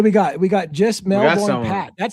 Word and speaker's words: Melbourne: Yeah, notice how I said Melbourne and it's like Melbourne. Like Pronounce it correctly. Melbourne. Melbourne.